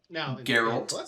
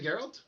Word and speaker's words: Geralt: Now Geralt. Salt. That's a hard G. Did I not say Geralt?